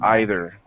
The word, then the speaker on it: either: that right or not so and then also either or either okay just one of those one of those